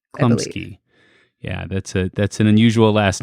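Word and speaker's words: Chlumsky: Oh, Anna Klumsky. Klumsky.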